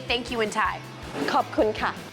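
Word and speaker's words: ขอบคุณค่ะ: Khop kun ka. Kap kun ka.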